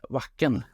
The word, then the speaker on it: Wacken: Jaha, det är som backen. Wacken.